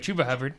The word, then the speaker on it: Chuba Hubbard: Chuba Hubbard, I said it right, Chuba Hubbard. I almost said Chuba, like I've been saying.